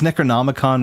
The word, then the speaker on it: Necronomicon: of hear the it's it's Necronomicon with an extra ick it's I don't it's